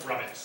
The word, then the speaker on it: Rumex: Keith, backstop relocation at Town Office of Recreational Field, we have a number here from Rumex, is that how you say it? Rummix. Rumex Fence Company.